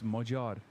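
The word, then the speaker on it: Magyar: The G sound in Majar is a hard G. No, it's not. It's Majad. What the Am I I'm not wrong. I'm right.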